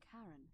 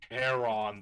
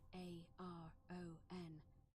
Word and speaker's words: Charon: It's just as you described it, only your pronunciation is a little off. The name you heard wasn't Karen. Charon, the boatman. Charon, as in Charon, the ferryman of the dead.